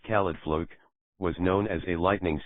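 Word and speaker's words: Caledfwlch: The Khalid Volch sword, pronounced Khalidfluk, was known as a lightning sword because it emitted lightning-like rays.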